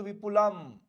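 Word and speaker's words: विपुलम्: बस माथा पर जो अनुस्वार दिख रहा है इसको म कहते हैं उच्चारण में ऐसे है विपुल लेकिन बिंदी लग गया तो विपुलम संस्कृत साहित्यम चलो यही अनुस्वार जब बीच में आता है तो आधा न का उच्चारण देगा अंत में आएगा तो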